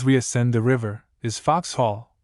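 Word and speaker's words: Vauxhall: Ascend the river is fox hall or rather Foxhole the first syllable of of which is corrupted into Vox by the vulgar who tell a foolish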